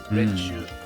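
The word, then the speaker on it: 練習: Renshu.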